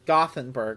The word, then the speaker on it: Gothenburg: Sounds like Gutenberg. It's Gothenburg, I guess is how you say it in English.